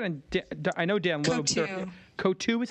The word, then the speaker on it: Coatue: I think it's Coatue is how you pronounce that, and I know Dan Loeb's. Coatue is how you pronounce it? Yeah, Coatue, yeah.